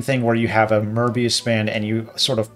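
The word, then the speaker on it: Möbius: plotting that uh as a merbius band I hope I'm pronouncing that right because it's German uh merbius strip which is Mobius strip I I know it looks Mobius but the the O has uh the um lot so I think it's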